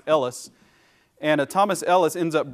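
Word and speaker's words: Helwys: Ellis which is uh spelled a little different looks like hellis to us but that's probably pronounced Ellis and Thomas Ellis ends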